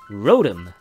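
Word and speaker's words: Rotom: 発音は、ロトム。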